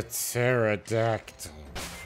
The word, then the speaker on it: pterodactyl: her the rap name of silent p because it's a pterodactyl all right uh let